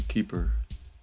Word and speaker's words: KP3R: How do you pronounce it? Keeper. What kind of coin is it anyway? Yeah, it's actually Keeper.